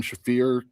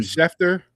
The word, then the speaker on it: Schefter: Next on Donald's was everyone acting like they are an Adam Shafir of pro wrestling. I don't know if I pronounced that right, but most of the time everyone is wrong.